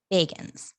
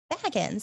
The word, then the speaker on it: Bagans: I did hear people say it like that. I hear it like that all the time. I was like, Bagans. Like, did you like what? So I just thought that was interesting. Like, oh, apparently everyone says his name wrong.